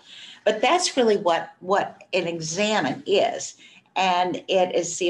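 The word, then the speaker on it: Examen: And it is spelled, luckily, E-X-A-M-E-N, but it is pronounced like you would pronounce, I'm going to examine your foot.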